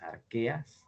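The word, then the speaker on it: Archaea: el dominio de las arqueas esto se pronuncia arquea aunque se escriba así con che porque esto está escrito en latín y en latín la h se pronuncia como ka esto es arqueo y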